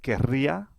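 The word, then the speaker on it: querría: The ending is added to the new stem which is has which has a double r. This is pronounced kara which is different from the infinit or the imperfect rather ka.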